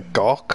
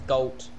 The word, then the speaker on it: Galt: Is it a gawk or a galt? A gawk. It's galt. Galt.